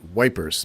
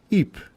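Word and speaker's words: Ypres: it was 1915 the Second Battle of EP EP y p s the Brits used to call it wipers maybe Canadian did too as a slang but now with correct pronunciation EP is where that trench warfare was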